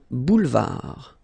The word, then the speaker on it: boulevard: Final D not pronounced. Un boulevard.